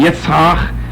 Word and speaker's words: Yitzhak: these things took place, we cease calling him Yitzhak.